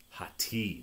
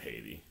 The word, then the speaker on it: Hati: and as apprentice shinhati hot tea that's how you say it not Haiti Buffet yeah oh dude